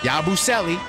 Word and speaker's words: Yabusele: I got the pronunciation right. Salute to me. Hold on. Yabusele.